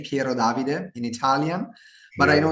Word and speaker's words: Pierodavide: We say Pierodavide in Italian, but I know here, it's challenging from. and so Piero Davide is an intellectual property attorney based in Milan, Italy.